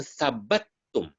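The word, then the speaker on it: ثبتم: Fa in thabattum, nah ini bacanya thabattum ya.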